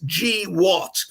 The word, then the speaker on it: GWOT: war on terror, GWOT, which if you pronounce it, it's G-what.